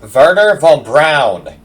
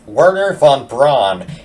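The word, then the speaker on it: Wernher von Braun: Firstly, his name is pronounced Werner von Braun, you uncultured swine. Pronouncing his name as Werner von Braun is like pronouncing jalapeno as jalapeno.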